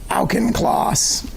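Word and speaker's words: Auchincloss: you sent this email to Hugh Elkin Kloss is that how you say his name that's correct yeah you sent his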